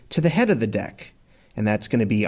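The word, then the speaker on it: deque: and the head so deck is short for double-ended q and as you're hearing me pronounce it it's normally pronounced deck typically there's no capacity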